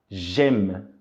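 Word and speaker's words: j'aime: coisa só e aí a pronúncia fica gema Ok Gema significa eu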